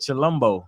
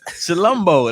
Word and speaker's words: Chilombo: Chilombo. That's what it looks confidence, like, bro. Like chill in Colombo. Okay, we got Chilambo. Chilombo.